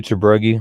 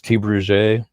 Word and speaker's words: Tebrugi: I do Tebrugi, but I was told the French Quarter, New Orleans, it's T. Bruget.